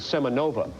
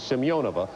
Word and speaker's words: Semyonova: semyonova by the way the name Americans have known the big seven footer for the Soviet Union for years is semenova the correct Russian pronunciation is simeonova as you've been hearing Rick Perry say and that's how I